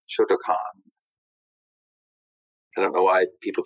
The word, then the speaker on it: Shotokan: spell it phonetically and it should be shotokan i don't know why